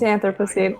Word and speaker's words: Anthropocene: It's Anthropocene. I googled it because I didn't know. Anthropocene. Oh, fuck. Okay. Well, Anthropocene's a real word, so I'm sure it is.